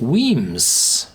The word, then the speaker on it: Wemyss: hear in the back whims it's easier to say than to read w m y SS you pronounce it whims which is the Scots word for caves as in the caves